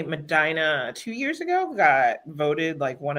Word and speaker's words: Medina: Tell us how you pronounce that. Mina. It's Madina.